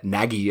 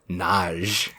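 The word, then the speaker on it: Nagy: I pronounced his name totally wrong. Not directed by Ivan Naggi, as I said last time. Directed by Ivon Nage. Wow, you really butchered that one, didn't you? To my credit, it is his last name is spelled N A G Y. Yeah, I would I would have called him Naggie.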